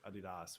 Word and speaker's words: adidas: say um everyone should own a pair of adidas which is the correct way to say it